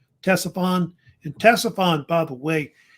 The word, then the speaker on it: Ctesiphon: was a city called, I think it's pronounced Ctesiphon, is how they say it. Ctesiphon.